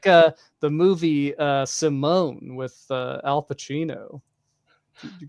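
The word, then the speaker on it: S1m0ne: Wow, ahead of its time, because it spelled like Sim days, 1, like Simulation 1, but it was Simone.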